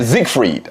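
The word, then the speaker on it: Siegfried: Is it Zigfrieded? Zigfrieded.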